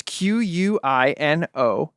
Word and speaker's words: Quinones: It's Quinones.